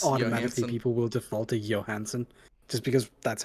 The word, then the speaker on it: Johansson: people will default to johansen just because that's how we're used to those names being pronounced no her name is johansen that's how she pronounces it that's how everyone she